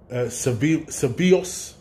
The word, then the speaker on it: Ceballos: Ceballos.